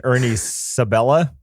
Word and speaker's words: Ernie Sabella: that's funny i don't know nathan lane and ernie sabella that's how you say his name timon and